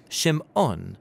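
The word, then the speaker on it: שמעון: she names him Simon or in Hebrew shim ohn because she says the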